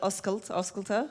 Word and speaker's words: Oscailte: Well, in honor of it being the Irish version of the Open that we had in Paris, and we call it Oscailte, depending on your pronunciation, I thought we should do an Irish version of the Hosting is Sexy t-shirt.